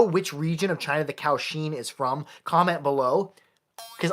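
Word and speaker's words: kouxian: in my last video I referred to this as a kujon that is not what they're called somebody uh commented who knew how to say it in Mandarin it's kausheen and they are three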